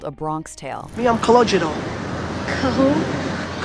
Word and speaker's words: Calogero: Me, I'm Calogero. Who? Calogero. What kind of name is that? It's Italian, but actually it's Sicilian.